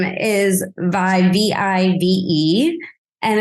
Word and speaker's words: Vive: me look and go obviously this is Vive funds there's no other way to pronounce it but then I rolled